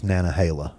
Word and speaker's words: Nantahala: I do know that's Nantahala. Nantahala, okay. Like the Nantahala River.